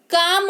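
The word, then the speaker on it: calm: हथेली, काम हो जाएगा CLM, काम, कालम नहीं काम यानी कि शांति।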